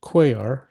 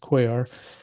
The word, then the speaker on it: Kojar: guy in Turkey named Quayar. It's spelled Kojar, K-O-J-R, but it's pronounced Quayar.